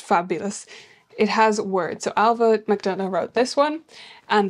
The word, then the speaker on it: Ailbhe: Ailbhe, by the way, is an Irish name, so that's how you pronounce it. It's a BH, which is a V, like a V sound in Irish.